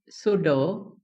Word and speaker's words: pseudo: remember the sound here the sound is not P but the sound that we have here in this word pseudo sorry pseudo we do not have the sound of Palo sound it is the sound of so right if I have